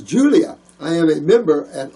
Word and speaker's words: Julia: Oh, this is Lulia? Lulia? Is that right? Is that an I or an L-U-L-I-A? Oh, country boy. Not real good pronouncing. Oh, my name is Julia.